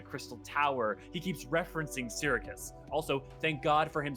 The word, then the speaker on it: Syracuse: He keeps referencing Syracuse. Also, thank God for him saying it out loud, so now I know it's Syracuse instead of Syracis, or it just, I know for sure how it is pronounced officially.